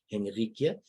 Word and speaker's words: Henrike: We've already had one show before with the amazing Dawn and amazing Henrike, and that's the proper pronunciation in Dutch because I am Dutch.